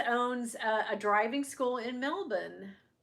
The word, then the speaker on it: Melbourne: My cousins owns a driving school in Melbourne. Melbourne's how you say it. Think guys, you don't do Melbourne, right? My Aussie friends have um corrected me on that.